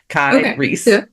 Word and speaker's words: Kyrie: Like some people are like, "How do you say Kyrie?" And I'm like, "It's Kai and then think Reese's pieces." Kai Reese.